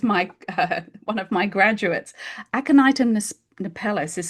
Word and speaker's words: Aconitum napellus: Aconitum napellus is spelled ACONIT for Tom, UM for mother, aconitum, and then the second word is napellus, NAPELLUS.